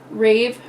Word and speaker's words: Rave: Rave, RAY-VV, so rave.